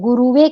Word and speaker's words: गुरवे: तस्मै तम तस्मै श्री गुरवे कई लोग गुरुवे कहते हैं वह उचित नहीं है गुरवे गुरवे नमः यह लोक मैंने इसलिए